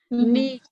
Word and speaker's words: knee: Knee, so that you can write that word. Know that it has a silent K in it.